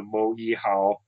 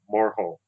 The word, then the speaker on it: Moehau: m o h which apparently the white colonist pronounce as the moal and uh the Mar's pronounce is the moro so that's the pronunciation we're going to use